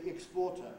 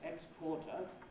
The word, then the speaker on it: exporter: an ambiguity when you instead of saying exporter as we usually do they say x quarter and often they give